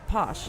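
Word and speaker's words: pox: Something they have in Mexico, for example, is called posh. And How do you say that again? it's actually spelled P-O-X, posh.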